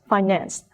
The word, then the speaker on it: finance: and a noun as a verb the second syllable is stress financed when it is a noun the first syllable